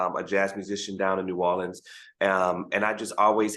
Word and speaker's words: New Orleans: tourists say they'd be like I'm going to norleans but it's you know New Orleans it's not New Orleans New Orleans it's New Orleans just New Orleans all all together awesome so with you being